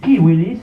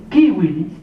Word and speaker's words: civilis: En latín igual, no es corpus juris civilis, es corpus juris civilis. ¿Por qué esto? Porque la C para los latinos, para los romanos se pronunciaba como K de kilo, y la U era,